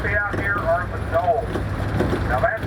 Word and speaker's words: dhole: The third species we're going to see out here are the dholes. Now that's spelled d h o l e and it's pronounced like the final syllable of banana.